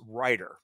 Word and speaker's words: Reiter: the name of Nicholas Reiter. His last name is spelled R-E-I-T-E-R. Not Reiter as in writing, but R-E-I-T-E-R.